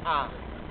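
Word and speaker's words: há: food at home ah it's spelled ha a but it kind of sounds just like ah just an a sound okay now I'm putting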